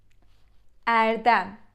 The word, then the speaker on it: Erdem: But e as in baby, e, all right?